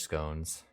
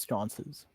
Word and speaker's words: sconces: And empty armor stands and torch scones lining the walls. They're pronounced sconces. Sconces. I forgot Sorry.